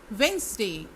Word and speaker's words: Wednesday: Wednesday, Wednesday, Wednesday, इसमें D silent है।